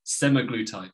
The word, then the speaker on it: semaglutide: semiglutid and glp1s so you might have heard a few pronunciations of semiglutide I've heard of a few American states some some micro tide but I I watched a YouTube video pronunciation it said semi-glue type so yeah that's how you pronounce it we'll be looking at